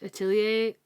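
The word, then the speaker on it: Atelier: um I've been working on the witch hat atier did I say it right you did y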